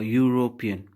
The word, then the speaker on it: European: because he out here this word European it's a consonant sound that's why we have